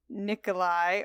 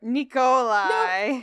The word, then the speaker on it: Nikolai: I'm working on my pronunciation like Nikolai or Nikolai. No, you said it right the first time and then you...